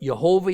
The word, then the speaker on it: Yehovah: is further evidence that God's name was spoken as 3 syllables, not 2. Now, we can agree to disagree about it. But Yehovah is how you're going to usually hear it out of my mouth throughout this study of the book of Hosea.